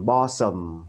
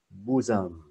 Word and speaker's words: bosom: Cái này không đọc là bosom hoặc là gì đó ha. Mà đọc là bosom. Cho nên nó là chữ U luôn. Chữ U ngắn.